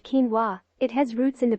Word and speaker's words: quinoa: in the amaranth family not a true cereal pronounced quinoa it has roots in the peruvian andes going